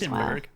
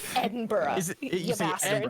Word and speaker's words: Edinburgh: Edenburg. Edenburg. Whatever, bro. Sorry, I can't let I'm American. I pronounce my letters. Fine. Edinburgh. Edin. Edinburgh. Edinburgh.